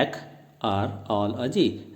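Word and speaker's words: acarology: इसकी प्रोनाउंसिएशन है एक्रोलॉजी, एक्रोलॉजी।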